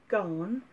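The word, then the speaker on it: Gaughan: Now I've heard it pronounced Gahan. I also look at it and think it should be Gauguin, like the painter, although it's not spelled the same.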